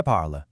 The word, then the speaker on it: parlent: The e, e s, and ent make literally zero sound. So, the pronunciation simply stops dead at the letter L.